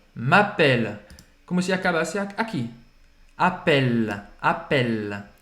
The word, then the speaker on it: appelle: Appelle, appelle. Não vai pronunciar esse E no final. Não é appeler, não é appelle, não é appelle, tá?